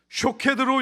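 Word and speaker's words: שָׁקֵד: 여기서 살구나무라는 단어는요, 히브리어 원어로 샤케드라고 발음합니다. 그런데 본래 히브리어에는 모음이 없지요. 그래서 자음으로 된 히브리 글자에 모음을 다양하게 붙일 수가 있는데, 그냥 자음으로 된 이 샤케드를 다르게는 다른 모음을 붙여서 쇼케드라고도 읽을 수 있습니다.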